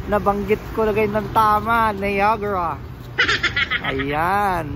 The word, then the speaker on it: Niagara: ko lagay ng Tama niagra ayan yun pala ang tamang pronunciation ng ah ah niagra mga kaano no hindi niagra o hindi Niagara kundi niagra yon or nagaraya na